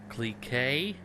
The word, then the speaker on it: Clique: be testing the vapid CLE K I think is how you pronounce it it's CLI qu e but I don't fully